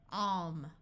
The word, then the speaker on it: calm: If you have LK or LM, then the L will be silent.